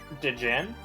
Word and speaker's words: Djinn: it's pronounced Djinn.